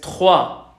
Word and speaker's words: trois: Entonces, esta me piden que la repita, es trois. Es como si en español tuviéramos escrito una T, J, U, A. Trois.